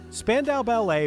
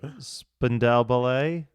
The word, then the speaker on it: Spandau Ballet: Spandau Ballet may have formed out of a love for